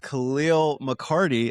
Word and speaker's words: Calial McCarty: My friends, I am sitting here with Calial McCarty.